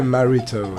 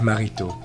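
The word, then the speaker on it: Maritaud: I butchered it so you can say marito it's okay to me but in French with the proper French accent is Felix marito marito marito marito but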